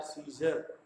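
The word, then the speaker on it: Caesar: इसी प्रकार से CAESER, सीजर, क्या है? सीजर। यहाँ पर भी ए साइलेंट हो गए।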